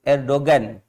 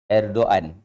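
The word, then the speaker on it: Erdoğan: Dia seperti juga orang sebut Erdogan. Itu ejaan dia, tapi sebutan dia bukan Erdogan. Dia seperti hilang G tu. Erdogan.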